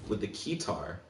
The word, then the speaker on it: keytar: So we got our boy strapped in with the keytar. For a minute, I thought I was fucking up saying keytar, but that's actually just how it's said.